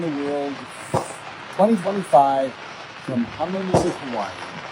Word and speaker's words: Hawaii: Notice how he said Hawaii that time not Hawaii. He was saying Hawaii before and I think if you've lived there your whole life I think that's how you pronounce it.